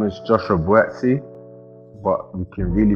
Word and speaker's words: Buatsi: my name is joshua buetsey but you can really pronounce it properly and i'll tell you my